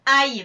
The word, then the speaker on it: aille: qui est la base aille pour le verbe aller et la base veuille pour le verbe vouloir. Vous ferez attention à la prononciation. Aille pour aller et veuille pour vouloir.